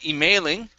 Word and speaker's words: emailing: support okay good good this word here is emailing so the stress is at the beginning instead of emailing it's emailing emailing emailing there you go okay